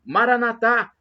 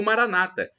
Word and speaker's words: Maranatá: E do aramaico eu clamo Maranatá, com a tônica na última sílaba, como dizemos nós católicos, ou Maranata, com a tônica na penúltima sílaba, como dizem nossos irmãos separados, os evangélicos ou protestantes.